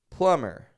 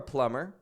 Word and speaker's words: plumber: calling that guy again plumber no releasing the beat and if you are a listener and you are a plumber now you know you can be sure that you don't want to pronounce the be in your profession plumber Plummer and thank